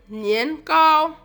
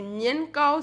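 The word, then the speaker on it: 年糕: Son nom est un jeu de mots en chinois nian qui signifie année, cao qui se prononce comme cao qui signifie haut ou élevé. Manger donc du nian cao signifie l'élévation et le progrès.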